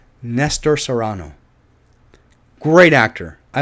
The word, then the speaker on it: Nestor Serrano: here in Washington and Lester Serrano is it Lester Serrano oh my God no it's not Lester Saran it's it's uh surround search Toronto oh my God I am so sorry I got your name wrong it is I know it every time I see it I Serrano Nestor not Lester Nestor Nestor Serrano great actor I like